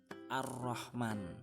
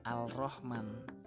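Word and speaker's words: الرحمن: Nah, bacanya ar-Rahman, bukan al-Rahman, ya, karena alnya melebur atau hilang. Jadi membacanya ar-Rahman.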